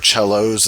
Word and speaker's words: cellos: the plural of cello you can say Chell which is the Italian way or cellos is the accepted American pronunciation of that I'm going to stick